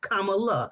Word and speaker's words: Kamala: her name correctly and she said think of it like you would think the comma in a sentence like a period so she said comma kamala so that's exactly how